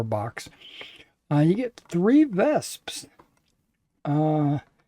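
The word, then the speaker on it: Wespe: uh you get three vesps uh the W is pronounced as a Victor so you say vesp um that's a 105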